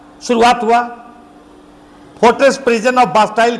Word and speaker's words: Bastille: बास्टील का फोर्ट्रेस था, fortress prison of बास्टील. English में इसका प्रोनाउंसिएशन होता है बास्टाइल, हिंदी में इसको बास्टील का दुर्ग कहा जाता है.